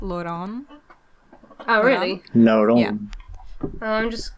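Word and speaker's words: Lon'qu: say the names well it actually says you pronounce it as Lon oh really Lon I'm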